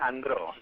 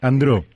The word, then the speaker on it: Andreau: Mario, sí, se pronuncia Andró. Andró. E-A-U es O, así que sería Andró.